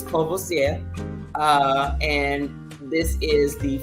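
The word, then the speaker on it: Courvoisier: Hennessy and Martel um not kassier you can listen to the rappers all you want that is not how you pronounce um this this uh cogc is kosia uh and this is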